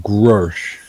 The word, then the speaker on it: Grush: I call it Grush. Grush. Okay. Grush. It is.